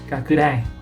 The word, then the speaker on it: 拡大: So yeah, it kind of had to make a English pronunciation mnemonic for it. So yeah, kakudai, to enlarge and to broaden and big, so it become magnification.